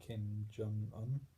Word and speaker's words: Kim Jong-un: Another country which has been making news the past few years is North Korea, led by Kim Jong-un.